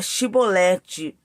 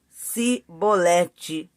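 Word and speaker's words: Chibolete: E dizendo ele, não, então lhe diziam: dize para Shibolete. Porém ele dizia Sibolete, porque não o podia pronunciar bem.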